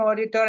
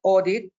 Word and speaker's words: audit: something that is so the word audit that should be pronounced audit and not audit comes from the Latin word air and AUD in Latin means listening so the first task of